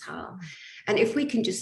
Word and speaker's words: Haugh: and jackie madden looks like or has different ways of pronouncing your last name but it's hell and if we can